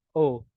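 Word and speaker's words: を: Ini bacanya O. Bacanya O. Namun kalau hiragana bacanya wo. O, Hai. Hiragana bacanya wo, namun ini berfungsi sebagai partikel sehingga dibaca O.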